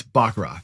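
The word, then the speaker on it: baccarat: And um and for Jimmy, it's not Bakarat, okay? You don't say. And it's not not Bakarat either, idiot. Um it's Bakarat. That's how you say it.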